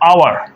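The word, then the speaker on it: hour: को देखिए, ये है आवर। क्या है? ये आवर है। यहाँ पर ये जो एच है ना, ये साइलेंट लेटर है। क्या है? साइलेंट लेटर, मतलब इसकी कोई आवाज़ नहीं आ रही है।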